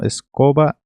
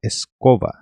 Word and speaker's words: escoba: Então, escoba, aqui você não vai pronunciar escoba, você vai pronunciar escova, como se fosse a escova de dente.